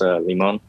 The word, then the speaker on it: Limon: yeah yeah but um over the years people have been pronouncing my name a little wrong you know i don't blame him for that it's pronounced limon so so the reason